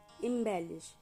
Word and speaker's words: embellish: First word is इंबैलिश। इसकी प्रोन्सिएशन है इंबेलश।